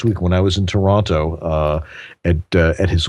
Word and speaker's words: Toronto: so or is the people in toronto say toronto toronto toronto that's right they they leave two they turn it into two syllables a two syllable yeah uh almost one